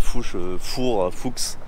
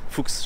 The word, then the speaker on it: Fuchs: Ces jantes Fuchs, alors, je sais pas comment on prononce, c'est Fuchs, Fuchs, je crois en allemand.